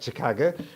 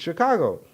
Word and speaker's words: Chicago: years ago to Chicago, to them it sounded like Chicago, so they spelled it that way. When Americans started, who spoke English, started writing the Gittin, they realized that that's not the way you pronounce it. It's Chicago.